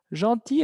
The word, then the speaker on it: gentil: Gentil, esa palabra es importante. Es amable o amables. Gentil. Así se pronuncia.